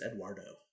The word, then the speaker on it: Eduardo: from the crowd so actually it's eduardo which is spanish for edward yeah but why would you change he's latino because that's three syllables eduardo so is like ecw